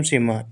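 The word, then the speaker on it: some: का ओ से कोई मात्रा नहीं एम एम से मा ई भी साइलेंट है सी ओ एम ई कम कम मतलब आना आगे देखिए एस ओ एम ई ये लिखा सम एस ओ एम ई सम सम माने कुछ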